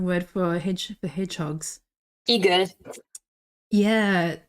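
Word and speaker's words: Igel: for Hedge for hedgehogs Eagle yeah see it's an eagle which means something else in English so yes but it's but it's spelled differently that's why I say hedgehog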